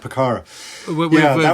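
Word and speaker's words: Pucará: Sharky Ward are chasing that picara is that how you pronounce it a picardo yeah yeah that's right picara with Juan tombering and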